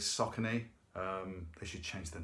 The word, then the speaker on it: Saucony: the name completely wrong I think I said suck only apparently is saucony they should change their